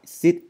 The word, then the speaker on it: sit: Ok, thêm vào đó, ok, từ sit này các bạn đọc là sit y ngắn và s nhẹ nha.